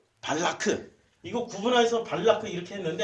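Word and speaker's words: בָּלָק: 자, 그러면 모압 평야에서 이스라엘 백성들이 딱 진을 치고 있으니까 그 백성들을 두려워한 이 모압 나라의 왕 발락이 우리는 발락 이렇게 하는데 실제 이름이 발라크예요. 발라크.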